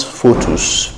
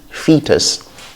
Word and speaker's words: fetus: okay the next is fetus not photos but fee fetus that's a baby still